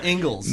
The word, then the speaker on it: Ingles: Every time I see Ingalls, I always think it's Ingles. It's the way it's spelled. I was like, hey, is that a Mexican restaurant? Like, oh no, it's Ingalls.